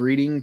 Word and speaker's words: Reading: Dam dam Tony's right the town of reading is pronounced reading then how do you